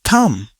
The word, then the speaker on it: thumb: This is thumb. Thumb. Here B is silent.